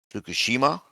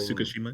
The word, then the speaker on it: Tsukishima: Fukushima. Is that how you say it? Tsukushima Yeah, and Tsukishima.